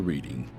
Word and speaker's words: Reading: Take a ride on the reading.